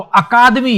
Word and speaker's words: अकादमी: मिलता है, अकेडमी, ऐसे, एकेडमी ऐसे, तो इस प्रकार से। लेकिन जहां परीक्षा में फिर इससे काम नहीं चलने वाला, अब इसका शुद्ध हिंदी का अर्थ उच्चारण इसका पूछा तो आपको अकादमी याद रखना।